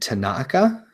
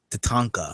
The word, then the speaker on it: Tatanka: deal they also signed Tanaka Tatanka Tatanka I always I always I always say that name wrong the same Billy Graham